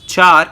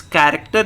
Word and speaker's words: character: type byte data type character data type please don't pronounce it as chart it's character data type short data